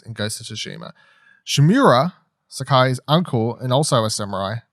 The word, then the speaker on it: Sakai: Saki or Sakai? Saki? Sakai.